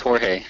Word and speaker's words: Jorge: Is it Jorge, or am I mispronouncing that? Yes, that definitely helped. No, I mean, you got it. It's Jorge. It's Jorge.